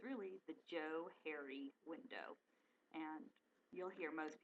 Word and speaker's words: Johari: they spelled it differently so it's really the Joe hary window and you'll he most people mispronounce this because it's just the trivia about